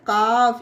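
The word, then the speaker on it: calf: है उसी तरह से सी ए एल एफ काफ इसे काफ पढ़ा जाता है फ्रेंड उसी तरह से इसे हाफ पढ़ा जाता है ये एफ से पहले एल है तो यह यहां पर साइलेंट रहेगा इस रूल के भी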